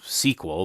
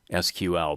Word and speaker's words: SQL: for structured query language many people pronounce this as sequel but my understanding is that sequel spelled out is another query language so i'm going to try to remember to call this thing sql but i'll probably forget